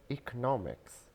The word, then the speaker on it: economics: This word has two pronunciations. So first one, the most common one is economics, economics, economics, and economics, economics, economics.